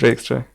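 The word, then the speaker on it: radix trie: It's radix try. Okay, so I just said it wrong again.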